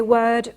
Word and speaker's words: word: because you usually know that you say word worth and worm okay and not warm worth and W okay so word worth and wor a possible explanation might be that if you were to pronounce these words with the o sound they would actually sound the same as words that are spelled with an A okay so that might